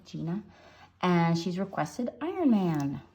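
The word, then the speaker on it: Jina: got a request from, I think it's pronounced Gina, J-I-N-A, Gina, and she's requested Iron Man.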